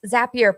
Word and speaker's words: Zapier: So, yes, Zapier, pronounced like Happier, very easy to remember.